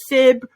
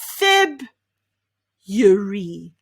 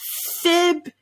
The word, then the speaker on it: February: that everybody finds hard why do we spell it this way if we don't pronounce it this way we definitely do not say february no we say feb yuri feb yuri can you say that well done you might also hear the alternative february february so whether